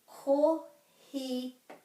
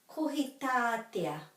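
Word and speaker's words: Kohitātea: So this is kohitatea. Kohitatea. So the emphasis is on the syllable with the macron.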